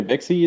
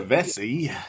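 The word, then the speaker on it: Vecsey: Peter Vexy, is it? Peter Vesey.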